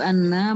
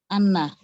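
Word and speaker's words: أنّ: Ini ada panjangnya nggak kira-kira ini? Nggak ada, Pak. Nggak ada. Jadi bacanya bagaimana? Anna. Iya, baik. Jadi jangan lebih dari itu ya. Kalau anna jadinya panjang kalau begitu ya.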